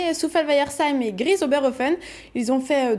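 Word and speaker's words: Souffelweyersheim: On commence par Soufel. Ensuite Weiher. Et enfin Seim. Soufel-Weiersheim. Tout simplement.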